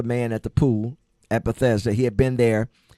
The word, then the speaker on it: Bethesda: Jesus went to the man and saw the man at the pool at Bethesda. He had been there. Some people pronounce it Betheia, but he had been there for 38 years.